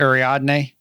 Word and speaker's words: Ariadne: Ariadne. Which is interesting because that's named after the guide through the labyrinth back in Greek mythology, I think. I can't remember. So there's the labyrinth. Ariadne is the one who guides them through the labyrinth.